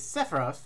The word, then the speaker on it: Sephiroth: The closest I have is Sephiroth. There we go, that's how we pronounce it.